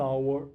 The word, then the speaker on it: hour: Assim como no português, em inglês existem algumas palavras nas quais o H não é pronunciado. Nessas palavras, especificamente, nós usaremos o an, como neste caso aqui, an hour ago.